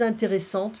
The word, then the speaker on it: intéressantes: Les plus intéressantes, remember, if we pronounce the TE, it's a feminine form. We don't pronounce the S.